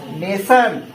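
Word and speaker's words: nation: जाता है सन जैसे जहां कहीं पर भी बचों टी आई ओ एन हो उसे पढ़ेंगे हम सन क्या पढ़ेंगे तो क्या हो गया ने क्या हो गया नेशन क्लियर और कुछ वर्ड ऐसे भी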